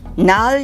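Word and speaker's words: gnarly: 이란 표현도 많이 쓰지만 나을 이라는 말도 많이 씁니다 앞에 지가 있지만 이것은 묵음 해요 잔나 어이 그거 정말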